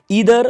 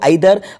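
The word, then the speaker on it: either: आपको और बता दूं, इस ईदर को आइदर और नाइदर भी पढ़ा जाता है, क्योंकि ईदर और नीदर ये अमेरिकन इंग्लिश में इसका प्रोनाउंसिएशन होता है और ब्रिटिश इंग्लिश जो हम यूज़ करते हैं इसमें यहाँ पे इसको आइदर और नाइदर बोला जाता है।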